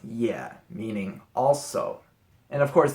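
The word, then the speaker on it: 也: component is a character by itself, and it's pronounced ye, meaning also.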